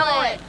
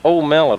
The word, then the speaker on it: omelet: Omelet. Omelet, is that how you say that? Yeah. Yeah. Our kids have been calling it old mellet over there.